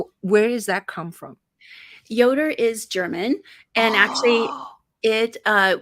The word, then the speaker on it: Yoder: in the 1800s so the j is pronounced with the y but to make it